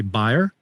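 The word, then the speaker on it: Bayer: the americas at well i think we pronounce it bear but you would say buyer excellent yes yes you're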